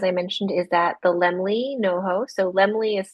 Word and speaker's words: Laemmle: And the film, as I mentioned, is at the Lemley NoHo. So Lemley is spelled LAEMMLE in North Hollywood, NoHo.